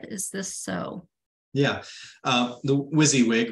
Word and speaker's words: WYSIWYG: The WYSIWYG, right? That acronym is pronounced WYSIWYG.